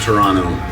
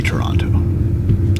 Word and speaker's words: Toronto: have dinner and oversee Toronto. Toronto? Toronto. So Toronto. yeah, that's how you say it. Not Toronto. Just ignore the second T. It's just one T. Yeah, Toronto. just replace it with an N.